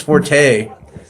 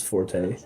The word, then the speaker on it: forte: This guy thinks forte is its own word and it's not pronounced fort. It is forte.